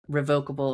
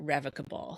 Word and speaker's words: revocable: Well, we'll get back because you mentioned the re revocable or rev what how did you pronounce it? People say it different ways. I call it revocable.